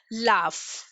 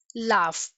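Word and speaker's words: laugh: ठीक है, लाफ, लाफ, यू और जी एक साथ यूज हुए एंड in this case also you is silent.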